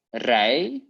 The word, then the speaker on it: rij: So we have ik rij without the D. So it's important for the pronunciation.